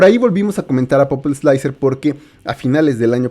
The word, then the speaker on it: Pupil Slicer: Fe de ratas, creo que la pronunciación correcta siempre ha sido Popil Slicer.